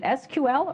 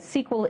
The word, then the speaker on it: SQL: The first thing you might be wondering is how you pronounce it. Is it "SQL," or is it "sequel"? My friends in industry tell me that "sequel" is the in pronunciation, so that's the one I'll be using.